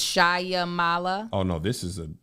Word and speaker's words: Shyamala: xray sh is it so there's not it's shyamala oh no this is an actress shamala shamala